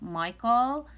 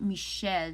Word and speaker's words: Michel: nostradamus first of all nostradamus his real name is not nostradamus it's michelle michelle michelle you don't pronounce michael and you know where he was from it's pronounced michele de notre dame and that's the thing